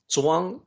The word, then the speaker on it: Zhuang: Well, it's a book about Chuang Tzu, and I know the pronunciation for that name is a little tricky for the Western audience. Yeah. Zhuang is the surname of this particular master, family